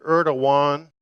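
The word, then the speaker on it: Erdoğan: consideration of president erdan in Turkey some say erdogan that's another pronunciation I use just the more American kind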